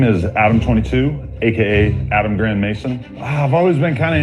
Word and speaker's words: Grandmaison: He just pronounced his name Grand Mason. So the way it's spelled is GRANDMAISON. So that's, I think, French spelling, but it's maison, which is like a house, a big house, a big one or whatever.